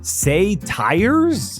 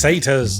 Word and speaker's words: satyrs: Say tires? It's satyrs.